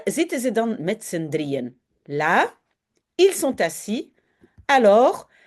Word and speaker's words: drieën: Pour dire attention, on prononce d'abord drie et puis un. Il y a un nouveau morceau qui commence là où sont les petits points. Ça veut dire ça.